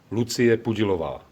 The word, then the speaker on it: Lucie Pudilová: Lucy Pudilova? Well, let's hear Lucia. It's pronounced, I believe. Lucie Pudilová.